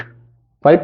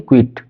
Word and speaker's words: quiet: The poem Kavita keeping क्वाइट, keeping क्वाइट, क्वाइट नहीं क्विट, pronounce में भी है ना, पता चला कि वो क्विट वाला कर दिया ना, एकदम बिल्कुल वाला, क्विट कह दिया जल्दी वाला, है ना, छोड़ दो वाला, है ना।